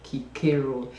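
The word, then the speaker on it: Cicero: Kiko of yeah um some people Sayo c i r o no it's pronounced Kiko Kiko was a Roman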